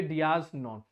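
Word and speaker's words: dies non: Pronunciation इसकी है डियास नॉन।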